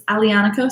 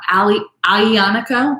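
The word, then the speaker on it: Aglianico: is an alianica alianaco is the name of the grape the g is silent so it's alianico some people will even call ali ionico just like just with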